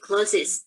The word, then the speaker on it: closest: You should say closest, bukan closet.